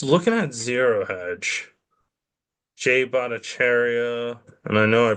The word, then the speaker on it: Bhattacharya: But if you look at it, if just looking at Zero Hedge, Jay Bhattacharya, and I know I pronounced that right, Bhattacharya.